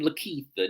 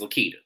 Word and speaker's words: Lakita: But moving on from here, we have Bravo and Lakeitha. Now I know someone had got on me about calling her Lakeitha. I know her name is Lakita. I like to call her Lakeitha because she acts like somebody old.